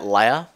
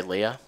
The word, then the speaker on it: Leah: people mis well not mispronounced i guess but pronounce her name differently um a lot of people say at leia i say leah okay what do we got here wow okay